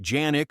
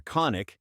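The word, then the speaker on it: Canik: That's exactly what KIC, pronounced Janick or KIC, both accepted, pitched with the Meat MC9 Prime.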